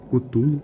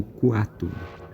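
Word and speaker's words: Cthulhu: Ela pode vir do sumério como aquele que vem de culto ou aquele que vem do submundo e também pode ser pronunciado como cutulo ou cuatulo.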